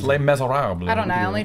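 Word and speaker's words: Les: Lees that's the way it's not L Miz the French don't pronounce it that way it's Lees I don't know I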